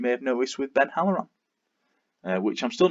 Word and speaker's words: Halloran: I struggle even, as you may have noticed, with Ben Halloran, which I'm still not convinced I'm pronouncing that right, but there you go.